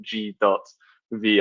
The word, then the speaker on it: G.V(): 15 times already but you pronounce it g dot V I know it causes a lot of confusion because of the syntax so before I go